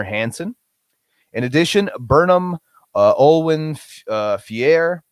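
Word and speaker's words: Olwen Fouéré: in addition burnham uh olwen fier i believe is how you pronounce her name from mandy um i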